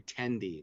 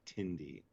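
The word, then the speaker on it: Tendi: fine with the pace you know i'm sorry tandy not tindy oh okay yeah i guess i say it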